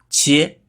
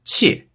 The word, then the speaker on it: 切: 切本意是切开，读音是第一声切，引申意